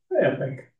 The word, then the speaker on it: epoch: for anep Epoch how how do you say that word Epoch like a time you know like epic EPO C epic epic um right like Jurassic